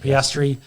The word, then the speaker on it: Piastri: Piastri.